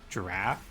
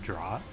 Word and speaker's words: draught: I think this is pronounced draft and not draught. I've always said draught, but I think it's actually pronounced draft.